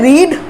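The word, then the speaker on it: read: लेकिन पढ़ते क्या है, रीड, रेड, रेड। स्पेलिंग वही है, स्पेलिंग चेंज करके आप RED नहीं करोगे, वह होता है लाल रंग, वो अलग चीज़ है।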